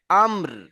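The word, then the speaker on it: أمر: তো আমর আমর আমর না আমর জি আম বলে শেষে র যুক্ত হবে আমর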